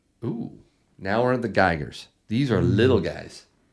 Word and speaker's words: Geiger: If you like Geiger bars, actually it's Geiger. If you need to know how to spell it, they're made in Germany, right?